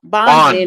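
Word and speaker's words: Bongino: I'll Bonino like Bon Bon.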